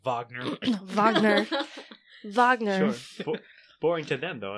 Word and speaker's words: Wagner: It's pronounced Wagner. Wagner.